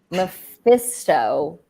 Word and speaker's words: Mephisto: Mephisto, is that how you say it?